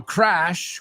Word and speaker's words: crash: Now, crash. We looked at that word the other day, right? We looked at it and it's not pronounced like crush.